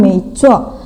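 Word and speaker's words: 没错: Sedangkan yang B, maksudnya yang kedua, contoh yang kedua, 没错, 没错, 没, nada 2 naik ya, kemudian 错 nada 4 dihentak, 没错, 没错. Pelafalannya seperti itu.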